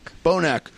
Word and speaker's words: Bonac: Bonac.